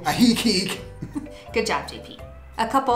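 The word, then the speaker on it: Ajijic: are lake chapala and ahiki and in our last video i pronounced that wrong and everybody corrected me so thank you ahi geek good job jp a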